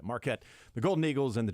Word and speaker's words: Marquette: I'm reading here marquet it's exactly how you pronounce that Marquette the golden eagles and